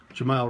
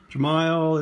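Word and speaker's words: Jemile: card is the auto Jamal we weeks jamile weeks sorry Jamal I'm saying your name wrong jamile is numbered to 149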